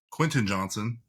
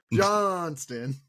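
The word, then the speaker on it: Quentin Johnston: So because of that, I think Herbert has been starting to find Quentin Johnson. That's his name. Because I know some of y'all don't know how to pronounce it. Johnston.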